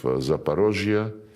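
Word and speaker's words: Zaporizhzhia: When we now liberate remaining parts of Zaporizhia, this is the Russian way to pronounce it, and Kherson, the people,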